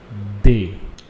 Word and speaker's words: des: similarly we also have indefinite plural article it's day so guys it is written as d e s where you have to pronounce it as they they okay so guys